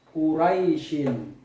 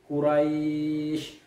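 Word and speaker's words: قريش: karena bertemu dengan ayah Seperti contohnya Kuraisin karena dia ada tanda ayah di sini kita membacanya menjadi Quraisy boleh dibaca Dua Oka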